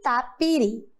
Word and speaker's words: tapiri: Vamos lá? Tapiri. Qual é o som mais forte? Uri. Muito bem. Isso mesmo. A sílaba mais forte agora é a última.